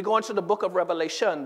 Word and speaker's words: Revelation: And so we go into the book of Revelation. The word revelation is actually singular and not plural. As most people pronounce the book. Sometimes people say, well, turn to the book of Revelations.